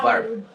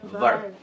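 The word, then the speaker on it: verb: ভার্ব। বি এর উচ্চারণ ভার্ব। হ্যাঁ, ঠোঁটটা এখানে এসে উপরের দাঁতটা লাগবে, ভার্ব।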